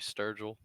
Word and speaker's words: Sturgill: 90 car of Michael Sturgill I hope I will not been butchering your name man it's uh it's pronounced actually Sturgill alright well at least